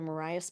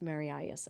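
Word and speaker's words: Marias: a cousin's first name so I believe it's pronounced maras I am not 100%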